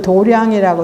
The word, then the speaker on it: 도량: 하고 우리가 부처님 저를 도량이라고 하고요 도장이라고 해요 그 도장이라는 것은 우리 검도가 유도등 연습하는 것을 도장이라 하지요 근데 도량이라 발음할 때는 불도의 관계되는 온갖 일을 하는 깨끗한 마당을 말하는 것이고 몸과 마음이 안 안주하는